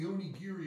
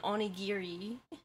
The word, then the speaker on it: onigiri: English dictionary and and they pronounce it onigiri and it's like actually because of the fact that the Japanese um they're um syllables um they separate the ghee in the re you know and and